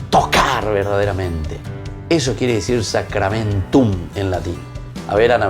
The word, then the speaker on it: sacramentum: La U al final y la M.